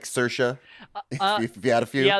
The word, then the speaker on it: Saoirse: common woman's name here in Ireland and it'sit's Saoirse but some depend on your accent it could be Sarah so she kind of like Cersei from Game